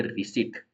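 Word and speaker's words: receipt: Lennon के लिए तो य एक्चुअल में रिसिप्ट में प है व गायब है साइलेंट बोलने में इसको बोलते रिट अब है रावू इसके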